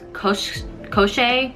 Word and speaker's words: Koschei: And on the other side, the influential Fedorov brothers who serve their father, the crime boss known as Koschei, yeah, that's how you pronounce it, Koschei the Deathless.